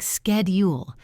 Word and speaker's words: schedule: In American English, it sounds like schedule with a K sound.